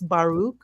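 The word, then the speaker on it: Baruch: Um that's not how you pronounce his first name. Spinosa. No, his first name is Baruk.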